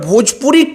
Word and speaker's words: भोजपुरी: खेसारी लाल यादव आज तक भोजपुरी को भजपुरी कहते हैं, मतलब आज तक उन्होंने